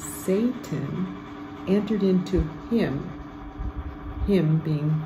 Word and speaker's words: Satan: the bread saved him that's another word we want to say the right way with a long a at the beginning of Satan entered into him him being Judas okay so now verse 30.